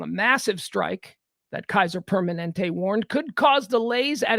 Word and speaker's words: Permanente: just did it Permanente it's Permanente like permanent like Kaiser permanent Kaiser Permanente workers tens